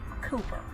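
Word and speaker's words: Cowper: The slave merchant was named William Cooper, and it's spelled C-O-W-P-E-R.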